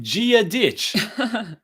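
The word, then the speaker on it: Dia duit: yeah do it and you pronounce it gia ditch which literally means god to you okay there's no way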